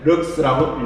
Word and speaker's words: lx: 그때 조도의 기호는 1라는 기호를 쓰고, 단위는 LX라고 쓰고, 읽을 땐 럭스라고 읽어요.